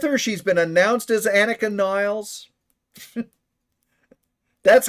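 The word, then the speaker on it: Anika Nilles: It's still Annika Niles. That's the way it's pronounced.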